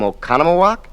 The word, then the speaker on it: Oconomowoc: Have you ever known anyone who came from Oconomowoc? That's spelled O-C-O-N-O-M-O-W-O-C.